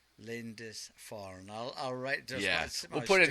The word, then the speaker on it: Lindisfarne: And pronounce the name of the band one more time. Lindisfarne. Lindisfarne. Lindisfarne.